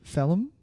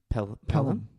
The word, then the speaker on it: Pelham: Is it Pelham? Pelham? Pelham. Yeah, it is. Because I was pronouncing a H after the P.